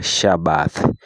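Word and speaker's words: Shabbat: Sabato ni neno la lugha ya ki ambalo linatamkwa Shabath lenye maana ya pumziko.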